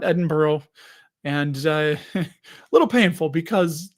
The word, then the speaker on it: Edinburgh: We booked our flight, some hotels and experiences in London and Edinburgh. Is how they say it. Edinburgh, not Edinburgh.